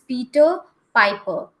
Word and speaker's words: Peter Piper: Yes, one thing you have to remember is whenever R is coming at the end of the word, the pronunciation of R, the sound of R goes little low. It is not that much harsh or that much loud, right? So it is Peter Piper.